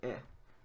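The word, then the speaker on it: へ: In general, it's pronounced he, but it's also pronounced the same as e.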